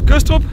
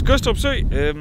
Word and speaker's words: Gødstrup: But this is Gødstrup, the people from other areas of Denmark would say Gødstrup because they're retarded. We do not do that because the D in Gødstrup is not pronounced. It's mute.